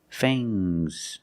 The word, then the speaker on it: fangs: Use a long A plus the nasal sound and a soft G. Fangs. Fangs. And the S is making a zebra sound, Z, but it's soft.